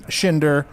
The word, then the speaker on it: Schinder: Stephen Schinder, last name rhymes with Tinder.